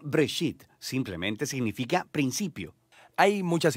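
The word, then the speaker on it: בראשית: génesis génesis viene de una palabra hebrea se pronuncia break sit simplemente significa principio hay muchas historias en el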